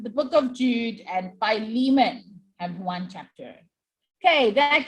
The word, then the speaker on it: Philemon: however you pronounce it so i pronounced it filament right but all the videos and like audio commentaries and stuff that i listen to say philemon so i will say